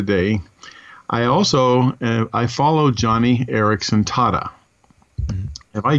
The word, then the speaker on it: Joni: But her name is spelled J-O-N-I, so you would think it'd be pronounced Joni.